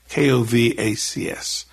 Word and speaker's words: Kovacs: still remember, I said, "Your name is Kovacs, Kovacs." He said, "That's the correct pronunciation.